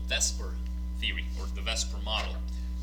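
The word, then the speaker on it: VSEPR: theory that will get us there is called Vesper theory or the Vesper model it's pronounced best for even though it's spelled separate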